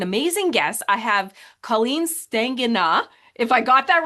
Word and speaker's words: Stegenga: Colleen Stegenga.